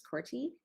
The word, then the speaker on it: Corte: next up is max corte and max did i pronounce your last name right um it's pronounced corty but that's that's close enough um so i wanted